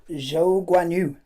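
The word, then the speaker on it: Zhou Guanyu: Lads, is Zhou Guan Yu. Zhou Guan Yu is the way you pronounce this first ever Chinese driver.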